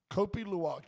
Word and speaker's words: Kopi Luwak: Kopi Luwak.